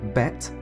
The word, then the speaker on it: bet: infinities let's use the second Hebrew letter bet which is pronounced the same as B to represent big and